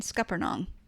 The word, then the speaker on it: scuppernong: that's true and i feel confident in saying scuppernong am i saying it right you are saying